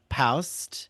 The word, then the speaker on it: Paust: He pursued acting and performed with his writing partner, Tracy Paust. Is that how you Hmm.